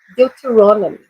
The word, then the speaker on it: Deuteronomy: Deuteronomy. Deuteronomy. Okay? Eu até sublinhei ali a sílaba tônica.